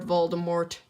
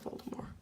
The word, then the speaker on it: Voldemort: Not Lord Voldemort. T silent. Don't kill me in the comments for it. It is the official way to pronounce it. Lord Voldemort.